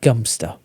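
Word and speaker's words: Godmanchester: one that is spelled uh g-o-d-m-a-n-c-h-e-s-t-e-r and it's pronounced gunster so there you go stop by the four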